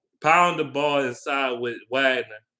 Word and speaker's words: Wagner: Pound the ball inside with Wagner or Wagner. That's how you pronounce it in German. Wagner.